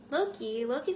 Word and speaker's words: Locke: Her relationship with her best friend Loki is purely platonic for now, but things could go romantic if someone decided to step up. Loki's actually spelled L-O-C-K-E, but it's pronounced Loki, and he doesn't really like answering why it's like that.